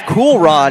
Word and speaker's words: Keyron: They're led by quarterback Keyron Billingsley, who, funny enough, in the pronunciation chart, we see him as Cool Ron as well.